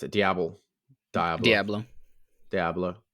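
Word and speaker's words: diable: do you pronounce it diao diao Diablo Diablo well it's d i a b l e so it's not it's not Spanish it's French it's the French version of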